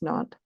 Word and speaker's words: Nantes: We it's in Nantes, France, Nantes, pronounced Nantes.